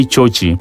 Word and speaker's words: Chochi: And when I say Chochi, it is the Kuria version for George. That's how the Abakuria people pronounce George.